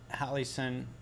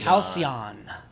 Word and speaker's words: Halcyon: um your last set at hallison it was i always pronounced it wrong dude halcyon so if you're fuse